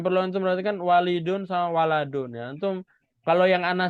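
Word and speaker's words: وَلَدٌ: Nah, ini bukan sama ya, karena banyak yang bacanya masih walidun. Nah, bukan walidun, waladun ya. Cara bedanya ada alifnya ini. Kalau ada alif berarti walidun, kalau nggak ada alif berarti waladun.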